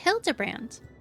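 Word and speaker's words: Hildibrand: It's pronounced Hildabbrand.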